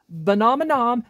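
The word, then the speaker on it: Venominon: correctly, Venomenon and Venomenaga, it's Venomenon and Venomenaga, get it freaking right, ah!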